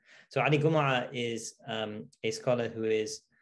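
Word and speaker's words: Gomaa: um both karadawi and ali gomura and it's pronounced gomer because of the egyptian sort of uh g becoming a gir sound regime in egypt is usually not pronounced so ali gumara is a scholar who is particularly striking as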